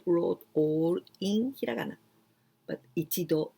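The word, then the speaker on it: 度: all in hiragana but ichido nido and this one is very easy because there's no no exceptions there's no jump sound just with with the number and do it means this means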